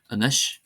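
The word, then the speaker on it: anois: exceptions, and here are some common words that are exceptions, that is, they're not stressed on the first syllable. Anseo, anseo, meaning here. Anish, anish, meaning now.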